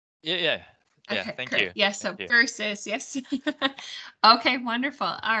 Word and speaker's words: versus: very fast so it became verse students may pronounce verse v-e-r-s-e instead of verses or verses yes okay thank you yes versus yeah let's all try that together versus verses yes my apologies yes there's verse and